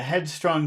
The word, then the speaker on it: headstrong: strong and teenager okay headstrong that's two words together so which part will you emphasize it's a head head is strong yes okay so it's the word head all right so uh